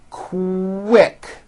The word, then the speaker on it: quick: So, for example, the word quick is pronounced with a K and a strong W sound.